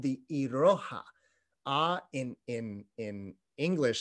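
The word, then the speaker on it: いろは: here is a beautiful little poem called the iroha a in in in english script i r o h a the iroha and actually the very first uh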